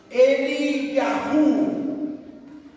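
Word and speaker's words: אליהו: veamos un poquito Elías el nombre de Elías se pronuncia más o menos así eliahu así se pronuncia eliahu en hebreo que quiere decir mi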